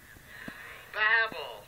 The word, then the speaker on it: Babel: the Tower of Babel how do you pronounce babble babble or baby well you know what Webster allows us to say it either way Mabel or babble a lot of times